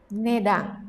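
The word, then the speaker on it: 値段: itu artinya harga ya nedang dibacanya kanci ini ne ya tadi kan sudah belajar yang ini bacanya dang nedang selanjutnya wah apa ini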